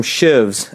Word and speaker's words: sheave: today these pulley came these are called sheaves and they pronounce them Shives actually seen the videos